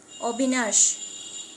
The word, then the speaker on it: অবিনাশ: যখন নাম বোঝাবে, যথা অবিনাশ, তখন আমরা এখানে ও লিখতে পারি, ও এর মতো উচ্চারণটা করতে পারি।